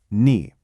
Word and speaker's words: 你: It's pronounced knee.